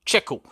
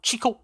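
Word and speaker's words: Checo: les Sergio sont des cheeko et la prononciation est bien comme vous l'avez écrit cheeko et non Chico comme on peut parfois entendre la deuxième question nous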